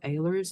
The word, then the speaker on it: Ahlers: And for that, Paul Ehlers, it's spelled Ahlers, also vote no for